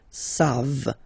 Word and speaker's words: savent: Here, classic ending for il and elle at the plural form, E-N-T. You don't pronounce it, so you get the sound savent. V-v-v-v, savent. Okay?